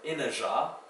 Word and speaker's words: inajá: For some bonus words, you can look up the word inajá. It's a tall, pinnate-leaved Brazilian palm with immense prickle-tipped spades. That one's spelled I-N-A-J-A. Because the zh is spelled with a j here.